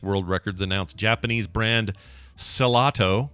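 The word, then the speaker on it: Cellato: Or it could be pronounced gelato. Yeah. Because it's the first 4 letters of cello, which is pronounced that way.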